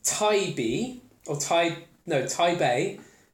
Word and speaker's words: Taybeh: if there is a little story that just pronounced Taibbi or pipe note I Bay in Arabic in